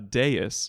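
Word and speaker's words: dais: Arena there's a little sort of a raised deis is that how you say it d a i s a deis yes good job thank you and uh on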